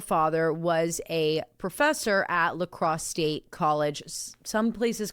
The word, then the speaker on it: La Crosse: It's spelled l a as one word, and then c r o s s e. La Crosse say.